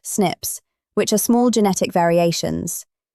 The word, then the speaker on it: SNP: It specifically focused on something called single nucleotide polymorphisms, or SNPs, pronounced "snips," which are small genetic variations.